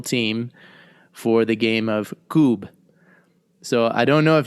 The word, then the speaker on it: kubb: Now, am I pronouncing it correctly? Kubb?